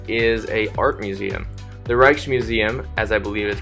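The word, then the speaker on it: Rijksmuseum: that's actually fantastic is a art museum the reichs museum as I believe is pronounced is a popular art museum in Amsterdam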